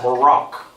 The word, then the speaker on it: Barak: And she sent for a man by the name of Barak. How do you spell that?